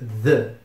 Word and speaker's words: the: podem notar que the começa com aquele th ou seja nós vamos ter que pronunciar aquele fonema meio estranho do inglês em que a gente coloca a língua entre os dentes e pronuncia o intermediário entre d t e s então fica the the e para acompanhar esse